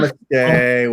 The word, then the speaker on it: namaste: It's actually, if you want to get super technical, the pronunciation is namaste. Namaste. Say it again. Almost numb. Numb. But it's short. It's like namaste.